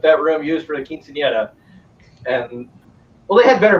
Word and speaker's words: quinceañera: There was a quinceañera.